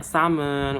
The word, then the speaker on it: salmon: Silent letter tuh kayak ada huruf tapi nggak dibaca teman-teman. Kayak misalnya kemarin aku udah sebutin ya, kayak ikan salmon gitu kan. Kayak di Inggris tuh bacanya salmon, udah gitu Latin tuh bacanya kan laen gitu.